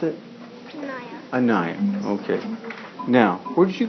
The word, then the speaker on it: Anaya: And you pronounce it? Naya. Anaya.